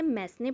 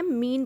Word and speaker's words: mesne: कई लोग इसे मैसने प्रॉफिट भी कहते हैं, बट इसका सही प्रोनाउंसिएशन होता है मीन प्रॉफिट।